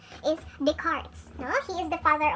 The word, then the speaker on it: Descartes: on is d-e-s-c-a-r-p-e but some people would uh pronounce it as this cartes but the proper pronunciation of this family name is descartes no he is the father of uh he